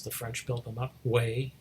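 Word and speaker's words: Hue: French built them up way which is spelled hu e anyway so he's looking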